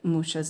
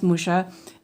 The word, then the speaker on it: Mucha: His name is Alphonse Mucha, and that's the French pronunciation. But if in Czech, he would be Mucha. So that was, but Mucha is more acceptable because he lived most of his life in France.